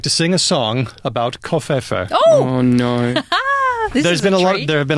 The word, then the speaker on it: covfefe: I tend to pronounce it kind of foreignly, like Covfefe.